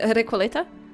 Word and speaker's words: Recoleta: So like, I am Recoleta. Recoleta, which is how I prefer to say Recoleta.